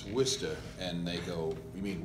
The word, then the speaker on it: Worcester: know this whole drill your town is not pronounced like it's spelled so people are trying to figure out where worchester is you know the whole time and when you say well it's wista and they go you